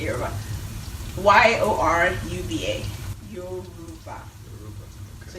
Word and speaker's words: Yoruba: Y-O-R-U-B-A. Yoruba. Okay. So it's Yoruba. So the proper pronunciation is Yoruba. Okay. And it's usually like said very quickly into Yoruba.